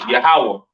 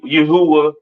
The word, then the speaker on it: Yahawah: so on right so the lord's name is yahawah not y Yahweh or or not Yahweh all right yahawah to